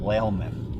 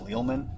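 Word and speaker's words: Lealman: Bay and uh there's this town here in St. Petersburg called Lman like bell l and I called it leman because it's spelled l e a l mn and I you know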